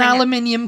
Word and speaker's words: aluminium: understand why like an aluminium can I was like I don't know why you're pronouncing it like that because there's no extra eye in it and you're just